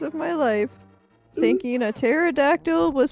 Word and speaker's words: pterodactyl: He's like, "Sweetie, it's pterodactyl." I was like, "The P is not silent." And then I And then I found out, yes, in fact, the P is silent.